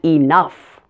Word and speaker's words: enough: pronunciation of oh ugh this one is f like in the word stuff the common Oh ugh words with this pronunciation are rough tough and enough now there's another word